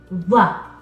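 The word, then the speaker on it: ظ: makes a sound again what's the difference between the sound that from the letter that from the letter VA or angry think of it as an angry th sound we're not showing our teeth we're dropping our mouth we're saying it Angry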